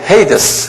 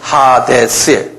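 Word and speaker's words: ᾅδης: 영어로는 헤이데스 그러는데, 그대로 발음대로 하면 하데스예요. 헬라말로는. 하데스.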